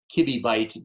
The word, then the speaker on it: kibibyte: And if you choose to put a kibby byte down, most people will know what you're talking about, but not all of them.